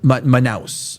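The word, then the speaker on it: Manaus: So, it's pronounced Manouse.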